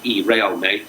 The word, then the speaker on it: Realme: There's an upstart telecoms company called, I think, I'm going to pronounce it Realme. It's Realme. Realme looks set to take it.